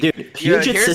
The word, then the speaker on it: Puget: Ah, Puget. Okay. So, P like it would be spelled like Puget.